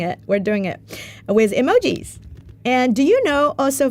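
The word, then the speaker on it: 絵文字: you this cuz most people people thought that emoji the word Emoji coming from emotion which is actually a coincidence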